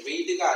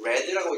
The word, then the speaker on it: read: 프랭클린 read가 아니고 read라고 읽어요. 왜 과거형이죠?